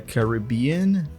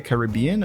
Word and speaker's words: Caribbean: movie Pirates of the Caribbean is that how I should say it Caribbean or is it Caribbean I believe both are correct I also would pronounce